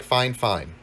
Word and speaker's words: Fifine: guys the fine or they actually sent me an email on how to pronounce it and they say pronounce it like fine fine so f ing f ing fine fine so here is the